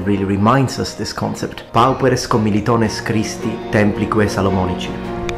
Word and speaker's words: pauperes: But I think that it's the full name in Latin that really reminds us this concept, pauperes commilitones Christi templique salomonici. And I have used ecclesiastical pronunciation on purpose here.